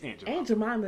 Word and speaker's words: Aunt Jemima: pronounce the word Aunt like Aunt Jemima is ain't your mama like you say it